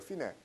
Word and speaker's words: Fine: 근데 제가 물어보는 이리에서 이거 어떻게 읽어요 네라고 읽어요 피네 피네가 뭐죠 여러분 초등학교